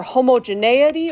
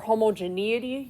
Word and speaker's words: homogeneity: chi-square test for either homogeneity or homogeneity. You're going to hear it pronounced either way.